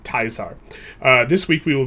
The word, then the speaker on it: Caesar: this game really is, the true title is Project Teaser. And if you know how to pronounce it, it's actually Project Taisar.